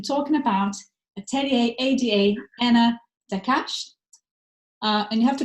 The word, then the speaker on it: Daccache: urbanism i am talking about atelier ada anna dakash uh and you have to correct me later